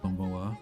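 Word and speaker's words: こんばんは: Let's say konnichiwa and konbanwa is spelled with konnichiwa. Oh, konnichiwa. Instead, oh, ha instead of wa.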